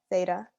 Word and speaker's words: theta: is because it comes up a lot it's pronounced like this theta and it's a greek it's a letter in